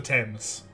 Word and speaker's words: Thames: It's the Thames. Thames. It's the Thames. Like, the river in London. The Thames. The River Thames. I've never heard of it. You say it like T-E-M, I believe.